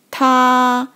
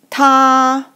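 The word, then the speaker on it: 他: also on the right so it pronounced like tah it means he or him tah okay this character we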